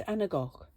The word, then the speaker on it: Anagach: It's Anagach. Like lock at the end.